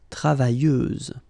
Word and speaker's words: travailleuse: You don't pronounce the final S, so you get travailleuse.